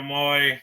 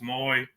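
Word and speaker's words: Moe: Wendle Moy. I know it's spelled like Mo, but it's Moy.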